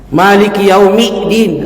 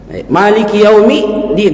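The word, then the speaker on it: مالك يوم الدين: pokoknya SS semua ya Maliki yaumidin nah ini yang sering kita dengarkan Maliki yaumin padahal tidak ada cara baca seperti itu atau di alfalaq paling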